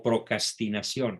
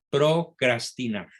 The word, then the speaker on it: procrastinación: Algunos pronuncian la palabra mal y dicen procrastinar o procrastinación. No, las dos primeras sílabas llevan una R. Procrastinación, procrastinar.